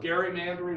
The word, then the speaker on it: gerrymandering: gary manner and outreach gary then becomes sort of a father of gary mandarin or as well let's call it gerrymandering and we see gerrymandering